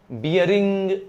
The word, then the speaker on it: Bering: बियरिंग straight, BERING, बियरिंग।